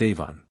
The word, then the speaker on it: Amhuan: The Old Gaelic form is Amuan, and the M by aspiration, becomes mh, whence Amhuan, pronounced Avon.